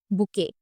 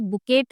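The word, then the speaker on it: bouquet: बुके। एंड the spelling of बुके इज़ बी ओ यू क्यू यू ई टी। बुके of flower. आप इसको बुकेट नहीं बोलेंगे।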